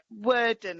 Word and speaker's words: Warden: Warden, Kenilworth Avenue. Kenilworth Avenue. Yeah. Worden, it's pronounced.